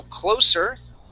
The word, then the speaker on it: close: a confusing word okay when it's used as a verb okay this has the the S the S is voiced okay when it's goodness gracious can't type it's not CL it should be Clos man this has been yeah so uh close Okay that has a voiced s okay so when I